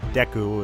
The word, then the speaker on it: Deku: forth with caution link another mispronunciation I had as a kid I always called it the Deku Tree I don't know if anyone else did that but it seems widely accepted that it's Deku especially given Japanese vowel pronunciation well we have made